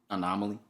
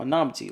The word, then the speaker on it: anonymity: Anonymity? Anomaly? No, anonymity, like anonymous.